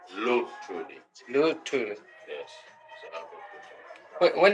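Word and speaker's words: Albert Luthuli: And I'm sorry, I can't pronounce his name. Albert Albert Lutrudi. Bertrudi? Lutrudi. Lutrudi.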